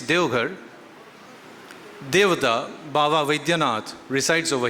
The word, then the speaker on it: Deoghar: Still I was thinking while I was sitting over there, that could it have been Deoghar, D-E-V? But no, to follow the pronunciation, it's Deoghar.